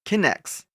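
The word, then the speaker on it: K'Nex: Connects. That's right. It's spelled word differently.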